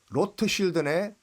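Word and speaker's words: Rothschild: 사람들이 와 붉은색 방패네 로트 쉴드네 로트 쉴드네 쉴드가 방패 독일식 발음으로 로트 쉴드 레드 쉴드인데 예 이거를 영어식 발음으로 하면 러시아이드가 아 쉴드가 잘 들어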